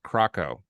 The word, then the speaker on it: KRKO: it was krko so if you pronounce it as a word kuruko Croco so they said it's